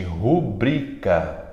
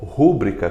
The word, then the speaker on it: rubrica: Rubrica. Rubrica, que a gente quer pronunciar como rúbrica, como se tivesse um acento no U. É rubrica. Fala comigo, gente. Rubrica e nunca rúbrica.